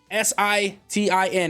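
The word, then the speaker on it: sitin: on how to pronounce s-i-t-i-n it's either sitting or citing it's sit in all right thank you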